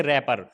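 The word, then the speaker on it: wrapper: जाएगा इसी तरीके से रैपर आर से पहले डब्लू है तो व क्या होगा साइलेंट हो जाएगा इसी तरीके से राइट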